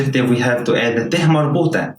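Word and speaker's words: ح: This may be confusing to you, but ha is different from he. Ha is deeper than he. It's guttural from the throat. So imagine pronouncing he with the air coming out of your mouth, but you have to cut it like hai, the hai sound.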